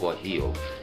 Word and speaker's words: guajillo: bright red chili is referred to as the guajillo chili and that is spelled GU AJ I ll o it is pronounced what he'll and these you will find commonly in any